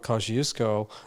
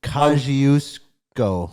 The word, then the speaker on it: Kosciuszko: Australia, if we consider the country as the continent, the high point of Australia, Mount Kosciuszko, even a 2-year-old child could walk up to the summit of that.